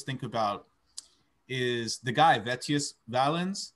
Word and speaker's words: Vettius Valens: about is the guy vetius valens did i say his name right um vetius valenz the that one yeah he was an old